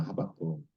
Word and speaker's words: 하박국: 김만조전 도사님이 거의 맞췄는데 마지막 건 리가 아니에요. 기억이에요. 기억으로 한번 발음을 해 보세요. 시역 비읍 기업 시 비읍 기역 히 시히 시비키 히비기 하바기 하바가 하박국입니다. 하박국 히 비읍 기역 하박국 하박국 선지자가 기억나시죠?